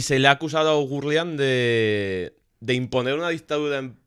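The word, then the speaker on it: Oughourlian: Todo esto bajo la dirección de de Joseph Orlian y se ha caracterizado. Le ponemos la R en una en una sílaba diferente. O Gurlian o Gurlian.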